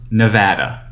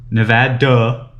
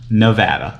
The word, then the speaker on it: Nevada: entire state not just in las vegas it's pronounced nevada not nevada not nevada not any other way nevada so make sure please guys pronounce it correctly